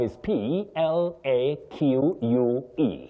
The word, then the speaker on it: plaque: Betty, the word that we have is P L A Q U E. Yeah. P L A Q U E, the pronunciation is plaque.